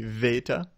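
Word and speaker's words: βήτα: highlights the modern one rather than big for beta it would use a v sound so it would be Veta uh Delta rather than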